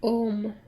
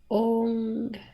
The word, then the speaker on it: Om: That the Om that you hear about is not pronounced Om. It's pronounced Ong. O-N-G. And why that is because your tongue hits some different meridians while you're making that sound. So Om is just Om. It's just achieved with the lips.